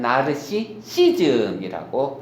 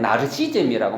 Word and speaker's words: 나르시시즘: 그래서 스이로 발음이 하지 않고 독일 사람들은 나르시시즘이라고 발음을 하게 됩니다. 잊지 마세요. 나르시시즘이 정확한 단어입니다. 많은 사람들이 말을 줄여서 그냥 나르시즘이라고 말하는데 그거는 틀린 개념이 되는 것입니다.